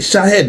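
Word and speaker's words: Shahed: ça l'Iran avait envoyé des missiles Chah ch Chahed he c'est comme ça on prononce à la Russie comme si tout cela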